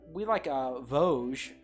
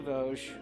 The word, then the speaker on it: Vosges: Yeah, it's like the mountain range, I think. Yeah. Right. I think so. Probably. And it's probably pronounced the same. Yeah.